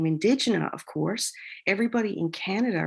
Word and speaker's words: Indegena: So Indigena, that's how you say it properly?